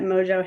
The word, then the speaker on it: mojo: is definitely you're marinating that ham in the mojo and roasting it really nicely.